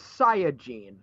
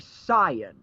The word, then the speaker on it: Saiyan: Well, literally what they say is Saiyajin, which means that really a correct pronunciation would be Saiyan.